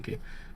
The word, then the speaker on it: Senki: I always pronounce it Seki, but it's actually Senki.